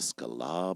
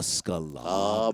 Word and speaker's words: Sklar: it he's like the Scala Brothers the Scala Brothers I'm like did he add a syllable to my last name are have we been